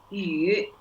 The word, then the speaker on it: 语: 语汉语 A third tone. Yes, it's third tone. Perfect. So 汉语 you know when you pronounce 语 you can like you only you have kind of almost like a close your mouth, but it's kind of in a really like round shape, and then 语 Han yu.